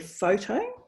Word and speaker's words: photo: addition of morphemes so for the word photo the um the stress is on the first syllable two syllables but then when you